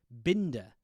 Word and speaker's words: Binder: suspicious we also find it's not Bender which is what I presumed it was the entire movie it's binder um or bind it's spelled